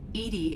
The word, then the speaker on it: EDI: is a jar why are you named edie edie is the phonetic pronunciation of that is an acronym for enhanced